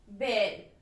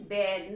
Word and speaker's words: bear: So let's understand first बेयर, B-E-A-R, बेयर. आपको पता है कि भालू को भी हम बेयर ही बोलते हैं, तो the pronunciation is बेयर, नॉट बियर. वी कैन नॉट से बियर, इट इज बेयर.